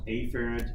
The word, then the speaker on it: afferent: see a carrot and it is pronounced a parent and each parent you want to be